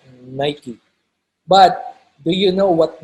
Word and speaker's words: Nike: is pronounced nike when i was younger i pronounced this nike i was corrected later on by uh one of the creative directors it's pronounced nike but do you know what nike pertains to